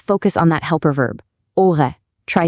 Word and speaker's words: aurais: Let's focus on that helper verb, aurait. Try saying it, aurait. Notice the S at the end is silent, so the whole thing is j'aurais parlé.